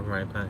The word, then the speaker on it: Rhypi: So I say or rye pie because it being that rye and pie are both double means.